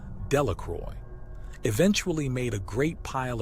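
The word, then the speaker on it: Delacroix: Jones and Dicky delaqua the villagers pronounced this name delacroy eventually made a great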